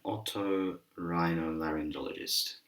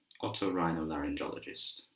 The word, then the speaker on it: otorhinolaryngologist: This is an otorhinolaryngologist, otorhinolaryngologist, otorhinolaryngologist.